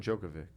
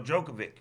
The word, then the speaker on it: Djokovic: to aussie open so djokovic the joker yeah yeah the original joker the d the d is silent obviously the name and you